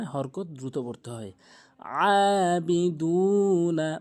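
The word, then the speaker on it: أَعْبُدُ: হামজা আন জবর আ অনেকে আবুদু বলে আইনটি বাদ দিয়ে বাদ দেয় আইনের উচ্চারণ চাপ দিয়ে আবুদু আবুদে আবুদ এভাবে উচ্চারণ করতে হবে এরপরে ওয়ালা আনা আবিদুম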